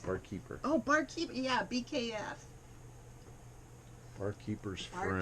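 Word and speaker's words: Bar Keepers Friend: Barkeeper's friend. Barkeeper's friend. I've been saying it wrong all this time.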